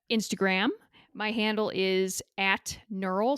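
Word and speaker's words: gnurl: my handle is at knurl so it's spelled GN e you are al the G is silent neural rhymes with mural and then also I'm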